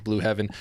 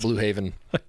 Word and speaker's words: Blue Heaven: over on youtube says blue heaven that is us thank you for pronouncing it correctly uh it's not blue haven shout out oh good